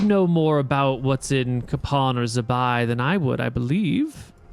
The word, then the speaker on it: Kapan: I think the locals pronounce it Kapan. Kappa. It's Kapan.